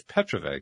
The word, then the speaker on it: Petrovay: to apologize for that I said it was Petro it's Petra come on well just